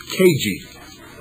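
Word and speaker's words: CAJI: Cooper's newsletter is titled C-A-J-I, pronounced KG. Again, that's another lie. Those of you who have been listening to this program, and those of you who have known me for years, ever since I started KG, know that KG is the correct pronunciation and not KG.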